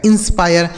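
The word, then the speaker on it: inspire: पी से प आई का उच्चारण आय हो गया। आर ई से र लिखा गया इंस्पायर।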